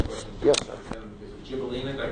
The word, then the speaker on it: Gibellina: Is it Gibellina? Did I pronounce that right? Gibellina, yes.